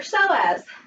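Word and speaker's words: psoas: that muscle is your so as PS oh yes that's know as but the P is silent apparently and then reach all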